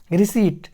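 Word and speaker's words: receipt: उसके बाद देखते हैं रिसिप्ट यहां पर पी को पूछने पर साइलेंट है और साइलेंट है एंड एमी कोड रहे हैं आई को छोटी ए की मात्रा पद रहे हैं और सी को सांप पढ़ रहे हैं और एक आई को आई की मात्रा पढ़ रहे हैं आप पी साइलेंट है टी को टॉप पढ़ें तो रिसिप्ट इस तरह से रिसिप्ट padhaayega ठीक उसके बाद यहां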